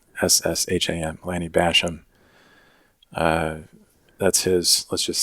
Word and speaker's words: Bassham: I mispronouncing his name. Bassham. Lanny Basham.